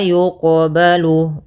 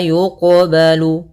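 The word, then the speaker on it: يُقْبَلُ: Ini qalqalah sughronya, yaitu kita membacanya tidak boleh ada sakta, tidak boleh mantul, tidak mantul, berarti harus mantul. Yang ketiga tidak boleh tambah hamzah. Maka wala yuqbalu, wala yuqbalu.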